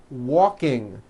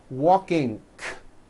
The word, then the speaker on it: walking: The word walking becomes walking, k. The word talking becomes talking, k, like that. That is not right. The problem is there's just this little k, k, K sound at the end of the ing sound. Don't do this. It is not right and it does not sound good.